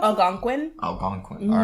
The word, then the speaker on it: Algonquin: How do you say I pronounce Algonquin? it? Algonquin.